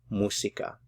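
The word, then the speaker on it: música: different syllables and then stress on this syllable here because of the accent mark musica normally if a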